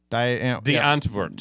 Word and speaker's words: Die Antwoord: The Antwoord. Yeah. That's how you pronounce it.